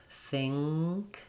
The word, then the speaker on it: think: Think. And I think knowing, in this case, that you're doing an NG sound there before the K.